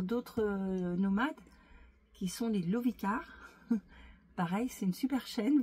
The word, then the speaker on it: Lovicar: Qui est organisée par d'autres nomades, qui sont les Lovicars. Pareil, c'est une super chaîne. Vous pouvez aller les rencontrer sur leur chaîne, Lovicar, comme ça se prononce.